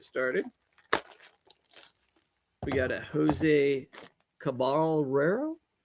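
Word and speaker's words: Caballero: We got a Jose Cabalero. How do you say that? Cabaya.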